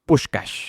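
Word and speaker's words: Puskás: Tenían a Francisco Puscas, lo pronunciamos Pushcash, el mejor jugador del planeta en esa época.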